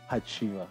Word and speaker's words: Hacjivah: Hacjivah.